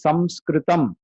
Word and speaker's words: samskritam: etymology itself says samyakritam it is samskritam so even when we write it is actually supposed to be s a m sanskrit but a lot of places they write n s-a-n-s-k-r-i-t so then we pronounce it also as sanskrit college not even sanskrit sanskrit